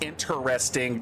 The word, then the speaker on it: interesting: And by the way, North American English speakers, learn how to p pronounce interesting correctly. There's no tro in the word interesting. It is i t, not t r a.